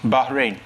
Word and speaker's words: Bahrain: of category Ramsey drain rhymes with rain it is the name of which island nation in the Persian Gulf rhymes with rain Uganda Martis Bahrain that is correct for